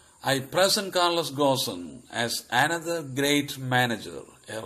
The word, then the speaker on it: Ghosn: Carlos gawson also pronounced this Carlos gond I present Carlos gaussen as another great manager